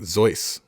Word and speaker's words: Seuss: but I'm pretty sure his middle name was like Zeus but it's spelled soos we've been saying it wrong but we have been